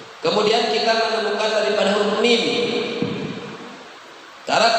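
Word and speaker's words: م: Kemudian kita menemukan daripada huruf mim. Cara pengucapan huruf mim sama seperti huruf ba. Ya, cara pengucapan huruf mim sama seperti huruf ba. Bibir bawah dan bibir atas disatukan.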